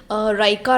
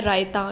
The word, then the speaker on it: रायता: मुझे इसको प्रोनाउंस करने में बहुत समय लगा था और मैं काफ़ी देर तक इसको रायका रायका बोल रही थी, लेकिन इसका सही नाम है रायता।